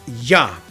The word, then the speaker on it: Yah: These two letters are pronounced Yah, and they are the abbreviation for the proper name of the God of Israel, the divine name, Yahweh.